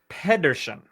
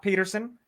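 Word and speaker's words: Pedersen: stina okay balasagar Pederson Pederson is how you say the last name not Peterson Pederson all right stina we're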